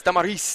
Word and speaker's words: Damaris: Or she says Damaris. That's how you say her name.